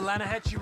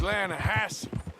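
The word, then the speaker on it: Lannahechee: the other day I rode down to the Lana Heche River I caught some beautiful steelhead trout you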